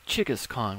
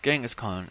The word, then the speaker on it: Genghis Khan: to be kangaskhan corruption it would be Chika's Khan would be the correct pronunciation of it because Genghis Khan is the quantum quote foreign English or whatever you want to call it translation but it's actually Chika's Khan okay Weil really Kumari